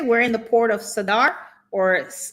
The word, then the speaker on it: Zadar: All right, so today we're going to be talking about the Port of Zadar or Sadar. Sadar is what it says pronunciation here.